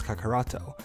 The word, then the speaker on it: Kakaroto: with an I and pronounce Goku's Saiyan name as Kakaroto.